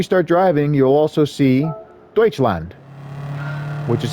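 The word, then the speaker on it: Deutschland: and when we start driving you'll also see deuts land which is how you say Germany in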